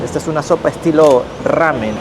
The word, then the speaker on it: ramen: Nosotros le decimos sopa ramen a la sopa que les mostré en la imagen, pero acá los brasileros la R no lo pueden pronunciar bien.